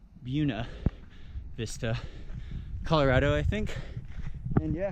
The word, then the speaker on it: Buena Vista: I know it's spelled Buena, good Vista, but heard the locals pronounce it Buena Vista, Colorado, I think.